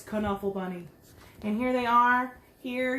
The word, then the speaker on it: Knuffle Bunny: wrong the whole time i thought it was knuffle bunny it's kanawha bunny now i know this book taught me something it's not knuffle bunny it's canuffle bunny and here they are here you can see